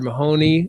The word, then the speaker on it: Mahone: Mary Lou and Arthur Mahoney. Is that Mahoney? Is that the correct pronunciation? Mahone.